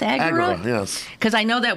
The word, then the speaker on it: agora: Agura. Yes. Cuz I know that word because I do crossword puzzles. I always I always thought it was agora. Okay. Agura. Accent on the first syllable.